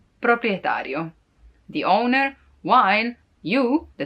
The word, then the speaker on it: proprietario: say but it's also kind of satisfying to pronounce it proprietario proprietario the owner while you the tenant would be